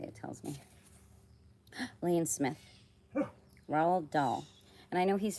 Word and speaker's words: Roald: Roald. Not Ronald. Take the N out.